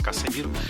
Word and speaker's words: Cassemiro: O pessoal fala KZ, mas se escreve KC com 2 S. Casemiro.